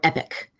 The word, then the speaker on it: EPC: the e-rate portal was the acronym EPC but that stands for epic that is how they pronounce that is the epic system starting